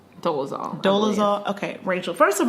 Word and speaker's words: Dolezal: Because, I mean, everyone knows about, how do you pronounce her last name? Dolezal.